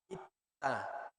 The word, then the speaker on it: 있다: Entonces, por ejemplo, tener o haber, haber, así se escribe como en amarillo y se pronuncia como el rojo. ¿Cómo se dice haber o tener? 있다, Ita.